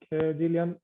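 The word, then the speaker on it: Gillian: it for me it's jillian like it's spelt with a j instead of g yeah thanks a lot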